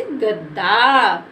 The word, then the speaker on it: गद्दा: हमारा आधा दा है और आधा दा को हम पढ़ेंगे द और इसके बोलने में ज्यादा समय नहीं लेंगे और आ की साउंड की मात्रा का उच्चारण भी नहीं करेंगे तो इसको बोल देंगे जल्दी से गद्दा ये तो